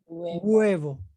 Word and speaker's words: huevo: wherever we mean egg it's like the h get cut off and you pronounce the next vowel huevo it's a country even